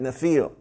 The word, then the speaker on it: Nephil: And they're called Nephil, all right? And that's how you say it, Nephil. Or plural, Nephilim is how it's pronounced.